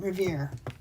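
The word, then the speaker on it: rivière: like Riviera but you don't put the uh on the end Rivier that's what is called in French if you want to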